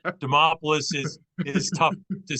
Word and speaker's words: Demopoulos: so you know it's demopoulos is is tough to say I always tell people it rhymes with Acropolis yeah yeah thanks for